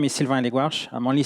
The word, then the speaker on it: Sylvain Hellegouarch: so today we're going and my name is Silvia and egg wash I'm only saying my name because it's not easy to pronounce not sure so just you know call